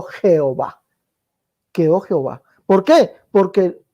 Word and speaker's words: Jehová: Por la I alargada que se pronuncia como J, quedó Jehová.